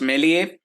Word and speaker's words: Meslier: Meslier tried. I mean, apparently his name's pronounced Meslier. But it's a proper noun. I can pronounce it however I want. So Meslier tried.